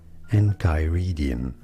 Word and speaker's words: Enchiridion: We are looking at how to pronounce this name, this biblical name. How do you say it? Enchiridion.